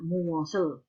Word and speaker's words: 무엇을: Ini tulisannya muos ya, tambah el bacanya muosel.